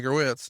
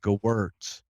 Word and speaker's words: Gewirtz: Ed Koskey and Brian Gewitz don't have anything for him. Gewirtz.